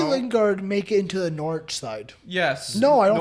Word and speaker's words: Norwich: Could Jesse Lingard make it into the Norwich side? Yes. No, I don't think so. Because Todd Cantwell's Norwich, by the way.